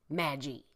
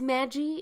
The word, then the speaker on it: Magie: I don't think it's Magie. I think it's Magie. It's got one G, M-A-G-I-E, FYI, just so you don't think I'm mispronouncing it.